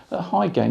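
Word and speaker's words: Hy-Gain: High gain is spelt H-Y-G-A-I-N and not H-I-G-H.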